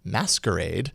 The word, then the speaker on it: msqrd: that sort of way an app called msqrd but meant to be pronounced as masquerade is here to creep